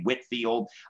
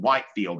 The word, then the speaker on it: Whitefield: as that goes the the english would say whitfield um but it's spelled whitefield now george whitfield was